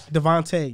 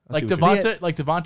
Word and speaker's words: DeVonta: Devonta has said it. He has said it's Devonta. He said it before? Yes. It's just clear as day. It's no A-E.